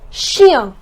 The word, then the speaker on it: chien: We do not pronounce CH as ch but as sh.